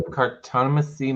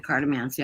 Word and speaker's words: Cartomancy: I always pronounce it cartomancy. I don't know how it's Cartomancy? Mesquite? I always think of it as like Nancy, but Mancy. Mancy.